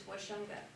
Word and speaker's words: Washunga: Gonze Gahike, this chief, this is Washunga, or that's how it's pronounced more in English or today. His way we say his name in Gonze is Wajongie.